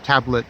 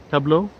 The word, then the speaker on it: Tableau: saying that you know mr tablet tableau tableau because you don't pronounce that t uh was a spy